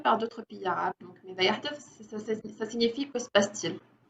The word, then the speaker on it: ماذا يحدث: Comment le média se prononce-t-il en arabe? ماذا يحدث.